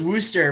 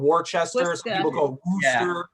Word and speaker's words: Worcester: worcester easter yeah right everyone mispronounces that trust me yeah no i i knew it was wooster but i said worcester it's wooster some people call it warchester yeah i went to